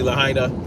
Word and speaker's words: Lahaina: Specifically Lahaina. I believe that's how you pronounce it.